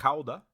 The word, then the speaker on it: Gouda: Now, you may, of course, as I mentioned earlier, Gouda is the American pronunciation of this. The region or the place in the Netherlands is actually pronounced Gouda.